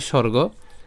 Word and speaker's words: স্বর্গ: থাকে গ ঠিক আছে সুয়রগ সুয়রগ বাংলায় বলি স্বর্গ আর আমরা সংস্কৃতে বলবো সুয়র্গ এরপর দোয়ারম তাহলে